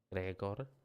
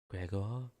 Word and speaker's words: Gregor: Gregor, Gregor, stress on the second syllable, not Gregor, Gregor, Mendel.